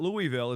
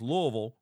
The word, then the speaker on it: Louisville: So geographically, Louisville is a spot, and that's how you say it when you're down there. It's not Louisville, it's Louisville, right, Glenn?